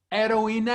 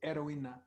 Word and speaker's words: heroína: Heroína, heroine. Oh, okay. Okay. Heroine. Okay. It's spelled H-E-R-O-I-N-A. It's the same word in English and Spanish. Heroína.